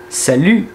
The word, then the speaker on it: salut: Salut, você tem que fazer a boca do U, mas tentar pronunciar um I no final para sair esse som aqui de salut. E esse T não é pronunciado.